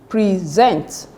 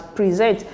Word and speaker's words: present: on the first cable most two syllable nouns and adjective should be stressed on the first syllable look at it now